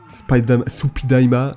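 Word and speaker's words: スパイダーマン: par la Toei donc, que beaucoup de gens appellent Spider-Man, Supidaima, Spider-Man, enfin bref, ils le prononcent bizarrement, pour essayer d'imiter la prononciation japonaise.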